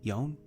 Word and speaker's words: yawn: Yawn? Oh, it's a good question. Baye is to yawn. Y-A-W-N. But how to pronounce it? Yawn? I have no idea. Yeah, it's A-W, so law. So yawn.